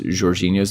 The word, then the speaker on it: Jorginho: Yeah, apparently that's like the Portuguese way to pronounce it, but obviously most of us are just Americanizing and Britishizing it and saying Jorginho.